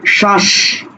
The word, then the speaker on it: শ্বাস: শ্বাস। তাহলে শ্বাস, উচ্চারণ করছে কি? উচ্চারণ করছো শ্বাস, সুতরাং লিখবেও কি শ্বাস, ঠিক আছে?